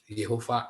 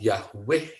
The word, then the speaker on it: Yehova: Ya, bacanya bukan Yahweh ya, tapi bacanya itu Yehova. Sebab di situ ada tanda Shewanya di bawah tulisan itu. Bentar saya tunjukkan ya, ini mesti benar juga ya, karena teman-teman suka salah kaprah ya. Bacanya itu bukan Yahweh, tapi Yehova. Sebab ada tanda Shewa di bawahnya.